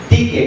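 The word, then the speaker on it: δίκη: Es una palabra en griego escrita, se escribe D-I-K-E, Tike, una palabra en griego que primariamente tiene que ver con una costumbre.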